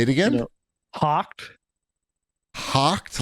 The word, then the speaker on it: Hawked: one say it again hawked hawked like h o c k d h w k hawked Hawk like a bird like a bird hawked